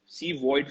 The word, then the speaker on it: CVOID: C Void Fund. That is like everybody is pronouncing COVID, we are pronouncing CVOID Fund, which is known as Corona Void.